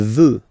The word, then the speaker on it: veut: Il veut, final T not pronounced.